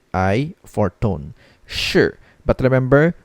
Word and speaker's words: 是: h i for tone sure but remember we don't need to read the letter i at the last part of this word so it's just pronounced as sure now the meaning of